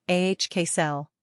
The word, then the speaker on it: Axel: pronunciation ahk cell meaning father of peace